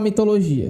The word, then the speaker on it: mitologia: A intensidade da pronúncia recai sobre essa sílaba aqui. Pessoal, essa sílaba é a última? Não é. Então, ela não é oxítona. Essa sílaba é a antepenúltima? Também não é. Então, ela não é proparoxítona. Então, ela é o quê? Paroxítona, pessoal. Ela é paroxítona. A tonicidade recai sobre a penúltima sílaba.